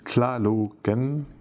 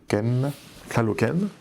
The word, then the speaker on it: Tlalocan: La prononciation, c'est Tlalocan. Tlalocan.